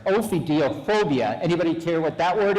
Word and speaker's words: ophidiophobia: I think this established what is I got to say it correctly, ophidiophobia.